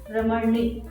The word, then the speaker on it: Ramani: was pronouncing my name Ramani with rolling R. So when she was saying that, I was telling her, you don't need to roll your R for my name, it is only Ramani.